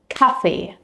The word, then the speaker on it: Kaffee: Like for example here, the word for coffee in German is Kaffee, Kaffee, with the stress on the first syllable.